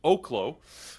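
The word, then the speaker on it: Oklo: Friday by the way and learned that it's pronounced OKO uh because we did watch as we were heading into the close with an interview with the CEO uh but anyways so OKO is uh yeah I mean this is a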